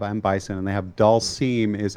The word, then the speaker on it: Dhalsim: but they have I'm Bison, and they have Dolce is how that's pronounced. Dolce. I've said Delesome forever.